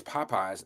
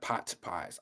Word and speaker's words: Popeyes: Ross said it's Popeyes, not poties.